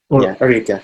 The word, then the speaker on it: Arica: Arica. I actually didn't look up how to pronounce most of the territories here. I understand. But yeah, Arica makes sense because second syllable it's Spanish.